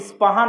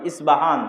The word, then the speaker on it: ইস্পাহান: আমরা প উচ্চারণ করি ইস্পাহান, আরবিতে এটা উচ্চারণ হয় না, আরবিতে হয় আল আসবাহানি, বা উচ্চারণ হয় ইসবাহান বা আসবাহানি।